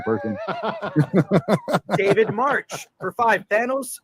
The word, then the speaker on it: Thanos: Thanos rhymes with Davos.